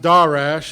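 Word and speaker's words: דָּרַשׁ: or h1 sorry h1875 sorry and it is pronounced da rash and transliteration appears 84 times it is mostly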